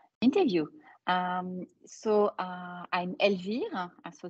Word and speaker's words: Elvire: um so uh I'm LV huh so this is the way you should pronounce it in French and I have 30